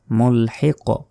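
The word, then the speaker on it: مُلْحِق: টান হবে বিল কুফারি মুলহিক মুলহিক মুলহিক বলা যাবে না মুলহিক শেষে ধাক্কা দিতে হবে কফ এখানে যদি থামি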